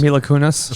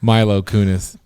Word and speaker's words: Mila Kunis: maybe my luck Kunis or whatever name is Mila Kunis sure that's giggling over there okay I said it wrong sorry no she Milo is just slumming Milo Kunis she's what Milo Kunis so she gots it